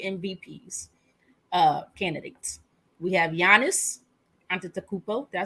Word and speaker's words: Antetokounmpo: We have Giannis Antetokounmpo. Did I say it right? Antetokounmpo, something like that.